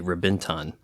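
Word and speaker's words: Reventón: Oh, we got the Reventon here. I think some people pronounce it with a B, Rebenton.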